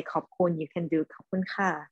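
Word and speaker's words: ขอบคุณค่ะ: Okay, so in Thai, you have to say it like perfectly in the right tone. So just say khop khun ka or khop khun krap.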